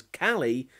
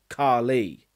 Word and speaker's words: Carly: And can I just mention how it's a fundamentally flawed piece of direction that Thuy Trang pronounces her name as Callie when it's pretty obvious it's supposed to be pronounced Carly.